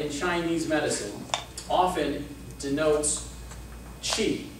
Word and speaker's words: Qi: odd but XI in Chinese medicine often denotes Chi it's also written as Qi so if you ever read any Chinese herbal Book You'll see Chi the life force the energy that's in all